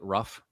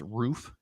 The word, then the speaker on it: RUF: don't know ruth yes it looks like ruff but it's pronounced roof this is an aftermarket